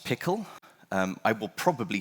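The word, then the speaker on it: PECL: Well, um, next up we have, um, P E C L. It's pronounced pickle. Um, I will probably say peckle a lot because I'm wrong.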